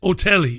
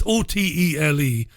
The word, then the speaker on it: Otele: Her name is Olivette Otelli. It's Otele, and that's how they pronounced her name anyway, Professor Olivette Otelli.